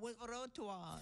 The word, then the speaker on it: frottoir: Now, you were telling me the pronunciation of this washboard I have, the frottoir. Frottoir. Frottoir.